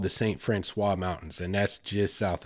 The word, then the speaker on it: St. Francois: People up there will say St. Francis. It's a colloquial thing. It's spelled St. Francois. It's French. That's the proper pronunciation.